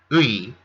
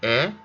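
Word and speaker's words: 의: nenal jaehyun gunin veteran ui here pronounced e shows possession nal means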